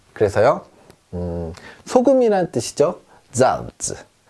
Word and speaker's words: Salz: 자, 어떻게 발음하냐면 쌍지 발음이 납니다. 우리말로 약간 세게 쯔 소리가 난다. 그래서요. 소금이라는 뜻이죠. 잔츠. 잔츠.